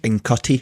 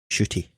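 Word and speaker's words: Ncuti: idea how it was i thought it was in cutty when i first seen it but yeah i watched an interview and it's shitty so i apologize for pronouncing it wrong shooty yes i did notice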